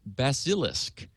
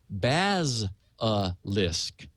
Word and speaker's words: basilisk: calling it basilisk and I had been careful to pronounce it correctly and was doing so wrongly she said I'm starting to think that either you don't know what one is or you've never heard it pronounced and I I said yes elain correct on both counts it's a legendary reptile reputed to kill with a glance pronounced baz aisk she did phonetically signed